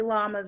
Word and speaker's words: llamas: but it's not actually llamas in Spanish. In Spanish, a double L makes a Y sound.